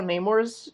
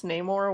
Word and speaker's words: Namor: It's like how I never used to know how Namor's name was supposed to be pronounced. Yeah. I thought his That's, name was Namor, but it's Namor with a I long think A.